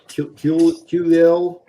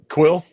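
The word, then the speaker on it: Kuiil: and it comes with Kulil. I always pronounce his name wrong. Quill.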